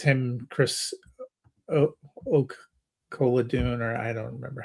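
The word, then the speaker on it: Oladokun: ended up being because what it's him Chris O Kadun or I don't remember how to pronounce it. Chris Oladukan. Oladukan. Dukan.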